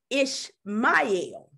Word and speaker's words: Ishmael: to really focus on ishmael today the name ishmael from the arabic side means god hears and listens on the hebrew it says god listens and it is pronounced ish mile so with that being said god can bring